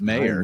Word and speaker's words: Meier: Well, and then the revelation that yours is not pronounced Meyer. Yeah, It's Meyer.